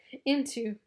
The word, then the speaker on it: Ntu: So Into, NTU, it's pronounced into.